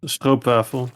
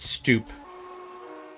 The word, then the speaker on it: stroopwafel: Yeah, it's stroopwafel, so yeah. Now you know. Yeah, thanks. I think I used to pronounce it stoop.